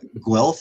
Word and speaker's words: Guelph: Guelph, is that the way it's pronounced?